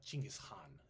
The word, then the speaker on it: Chinggis Khan: sing about Ghengis Khan, or Chinggis Khan is how they kind of say his name.